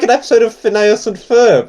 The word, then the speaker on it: Phineas: no, this is like an episode of Phineas and Ferb.